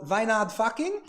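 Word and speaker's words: Wynand Fockink: It's made by a distillery called Wijnand Fucking. I am pronouncing that correctly.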